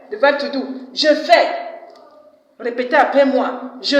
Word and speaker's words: fais: S at the end of a French word is silent.